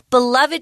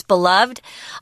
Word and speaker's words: beloved: It's a beloved tradition if it's beloved or beloved, both pronunciations are correct. Beloved, beloved.